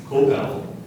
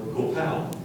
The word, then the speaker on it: copal: ceremonies K kobal kopal I'll give you the pronunciations again kobal copal or copal copal c o p